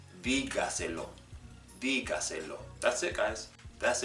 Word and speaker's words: dígaselo: If it has 4 syllables, if it's a 4-syllable word, then it will be stressed on the 4th from last syllable. Dígaselo, dígaselo.